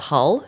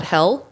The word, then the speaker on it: Hull: south of Boston it's called Hull not hell that's it that joke was coming I don't think Hal would be a Beach town you know that sounds too lovely and people in California don't say it correctly it's Hull I can't I don't know